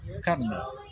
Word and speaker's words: colonel: For example, the word colonel actually came from the French word coronel. Coronel. Over time, have two similar vowel sounds were made less like, giving us the pronunciation kernel.